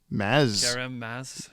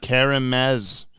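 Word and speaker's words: Kerem Maz: K-E-R is pronounced like Carol.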